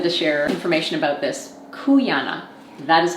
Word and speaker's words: Cuyana: I'm really excited to share information about this kuana that is how you pronounce the name of this company I had